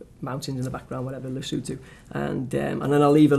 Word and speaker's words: Lesotho: Yeah, it's Lesotho. Okay, because I think I would pronounce it differently, and I want people to make sure that a lot of people say Lesotho or Lesotho.